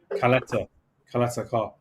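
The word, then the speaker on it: Ćaleta-Car: I forgot how you pronounce his name. Caleta Carr. That's it.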